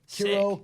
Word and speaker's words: Cureau: Curo Curo. My parents hate when I say Curo, but I'm like I mean it's bureau with a C.